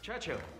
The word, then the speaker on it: Churchill: Churchill, that's how you say it, all together like that. I'd heard church and hill, but couldn't find either.